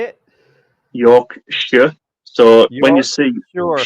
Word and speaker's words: Yorkshire: Yorkshire. So when you see Yorkshire. Shire on the end of Shire. something, it's pronounced Shire.